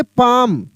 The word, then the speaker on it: palm: अगर लिखा रहता है यहाँ पे PALM, तो इसको पाल्म नहीं पढ़ेंगे, पाल्म नहीं पढ़ेंगे, इसको पढ़ेंगे यहाँ पे पाम।